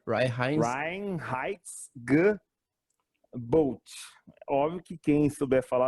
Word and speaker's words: Reinheitsgebot: Ó, em alemão, a lei de pureza alemã se pronuncia Reinheitsgebot.